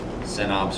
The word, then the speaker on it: synapse: gap that that message Synapse. goes across? Synapse or synapse. I've heard it pronounced both ways.